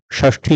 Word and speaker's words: षष्ठी: बोली जाती है और आमतौर पर लोग इनका उच्चारण गलत ही करते हैं यह मुर्धन्य श है और कभी कभी इसे हम ख भी बोलते हैं जैसे अगर षष्ठी लिखा हो तो हम उसे षष्ठी पढ़ते हैं षटकोण षट पद